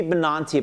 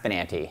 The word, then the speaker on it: Benanti: Laura, should be Benanti, but it's pronounced Benanti. Because I'm from New Jersey.